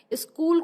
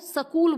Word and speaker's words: स्कूल: जैसे कि कई लोग हमने देखा है स्कूल को सकूल बोलते हैं, यानी उनको यह ज्ञान नहीं होता कि यहाँ पे जो दंती सा है वो आधा सा आएगा, तो इसका उच्चारण होगा स्कूल।